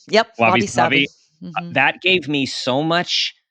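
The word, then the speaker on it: wabi-sabi: Is that pronounced right? Yep, wabi sabi.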